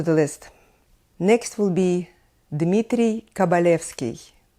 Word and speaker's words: Dmitry Kabalevsky: now back to the list next will be Dmitry kabalevsky Dmitry kabalevsky a lot of young students of violin would